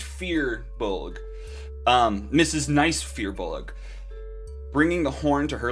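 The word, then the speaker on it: firbolg: looked this up apparently i've been saying it wrong the whole time it's fear bullock oh is it apparently i don't know where you where does the youth come from i don't know like apparently there's a weird extra syllable or whatever and awesome flights here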